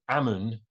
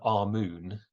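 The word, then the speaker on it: Amun: we we understand that Ammon or it's probably better our moon um is written that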